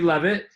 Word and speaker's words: Levitt: It's just Levitt. Kind of the way it looks. Just how it looks. Levitt from PType, which is pty.pe, which is a pretty clever domain.